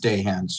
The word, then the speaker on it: Dahan: brown for doctor and it's pronounced day hands sir my apologies please